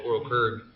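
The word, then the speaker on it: Ooryl Qrygg: One of the things I love about going back to Oral Kurg, it's hard to say. Oral It is. Kurg It is. is how you pronounce it?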